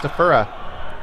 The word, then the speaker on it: Stafura: Now, I know that it should be pronounced Stafura, but he did correct me and tell me that his name is pronounced Stafura.